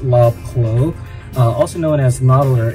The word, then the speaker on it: Lobclow: of a package and I think I mispronounced his name as law cloth but it is love quo also no one has